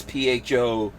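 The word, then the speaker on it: phở: it looks like it's spelled pho but it's pronounced pho yeah like uh i mean you know if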